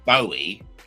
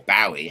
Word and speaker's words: Bowie: out there that says David Bowie or Bowie, however you want to pronounce it, was a bastard and